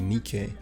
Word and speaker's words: Nike: Because the brand is actually based off of the Nike. So the correct pronunciation should be Nike.